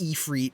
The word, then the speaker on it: Ifrit: only done the first three basic dungeons in ifrit so far i know it's pronounced e free but i've been pronouncing it effort since i was like four so that's how